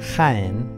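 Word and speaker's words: Jaén: the trip for sure we are here in chain that's how you pronounce it which is the capital city of the province of hain which is an autonomous community in andalusia spain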